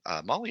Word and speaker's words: MOLLE: So mollywebbing, and for those of you listening, that's spelled Molle. It's an acronym. Molly is actually not hard to sew.